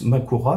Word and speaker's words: Mahoraga: la tête de Makora maoraga en fait c'est écrit comme ça mais ça se prononce plus Makura normalement donc qui se coupe